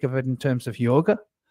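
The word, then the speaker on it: योग: it in terms of yoga yog yog is how it's pronounced in the west we call it yoga um so yog which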